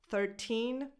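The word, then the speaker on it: thirteen: When you have a number that ends in teen, put the stress on teen. And when you're saying these numbers, put the stress on the first syllable.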